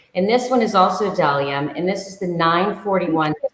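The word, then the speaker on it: Bdellium: It's spelled B as in boy, D as in dog, Ellium, but the silent, so it's Dalium tools.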